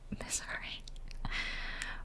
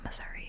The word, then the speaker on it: Missouri: And then I'm like, let me just spend 20 minutes in Missouri. Or as people from Missouri say, Missouri.